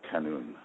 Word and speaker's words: qanun: I'll probably it's spelled K-A-N-U-N, qanun.